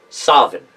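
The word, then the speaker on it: Samhain: memory of those times I remember the word pronounced sovereign with a V with a W end of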